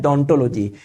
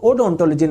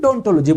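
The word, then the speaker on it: odontology: दोस्तों ध्यान रखेंगे, स्टडी ऑफ टीथ को बोलते हैं डोंटोलॉजी। इसकी स्पेलिंग ओ से शुरू हो रही है, लेकिन इसको ओडोंटोलॉजी नहीं बोल के डोंटोलॉजी बोलेंगे।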